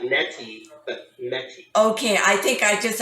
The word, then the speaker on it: Mettie: correct you on her name oh okay it's mey m TT so like NY but mey okay I think I just I'm so used to pronouncing it wrong I've got it spelled right but mey okay okay and and she would never correct